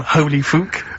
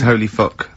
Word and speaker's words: Holy Fuck: Please can we have more Holy Fook? You're not pronouncing it right, Steve. I know, I was just a bit edgy there. It's Holy Fuck, the little Chinese fella.